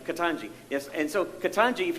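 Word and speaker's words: Ketanji: what's your first name katanji see i was going to say contingency but anyway katanji yes and so katanji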